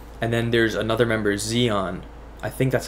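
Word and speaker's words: Xion: then there's another member zeon i think that's how you pronounce it it's like spelt x-i-o-n but i think it's pronounced zeon um so i'm pretty sure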